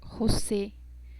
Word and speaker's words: José: Si ven, nosotros decimos en el español José, pero en el portugués decimos José, como que intentamos abrir la garganta para pronunciar la E.